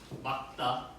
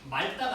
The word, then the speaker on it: 맑다: 기억으로 바람을 하고 막다 그러니까 말다가 아니야. 말다 물이 막다야.